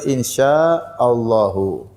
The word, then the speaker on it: insyaallahu: Yang benar insyaallahu. Insyaa itu artinya jika insya itu inika. Syaa artinya berkehendak. Allahu artinya jika Allah berkehendak.